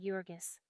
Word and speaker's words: Jurgis: One pronounced Jurgis.